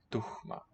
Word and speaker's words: tuhma: You have that H in what we call a coda, end of a syllable after a vowel. English doesn't really, modern English doesn't have that. At least my dialect doesn't. Tuhma.